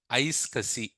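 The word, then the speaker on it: iSCSI: ISC I I isi so we in real time we call it as ice Cassi what is that uh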